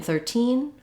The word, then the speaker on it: thirteen: but in 13 13 you can hear how i have a lot more length on that second syllable and if i'm saying the two 30 and 13 then i'm clearly stressing on 13 and i'll use that true t sound if i'm saying i